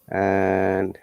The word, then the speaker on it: and: remember, this pronunciation and, we do not pronounce and if the and is in between two words. It should sound like an. But if the and is at the beginning of a sentence or after a comma, we must pronounce it as and.